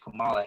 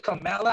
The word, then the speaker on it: Kamala: Joe Biden, President-elect Joe Biden, and Vice President Kamala Harris.